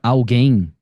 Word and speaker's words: alguém: alguém ele ele pode ser um tritongo esse não não não você fala a guem não Tá vendo você não pronuncia o u né Uhum você só